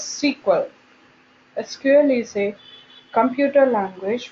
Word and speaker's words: SQL: IBM S curve is pronounced as sequel SQL is a computer